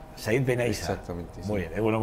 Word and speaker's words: Said Benaissa: Siempre tengo problemas a la hora de pronunciar. Estos se ríen, pero es que es verdad. Bueno, Said Benaysa. Said Benaysa.